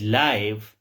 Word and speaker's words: live: We have another example of homograph, which is leave rhymes with give. जिस तरह हम give कहते हैं, इस तरह हम leave कहते हैं. To be alive or reside in a place. And the other is live, like live match, rhymes with 5.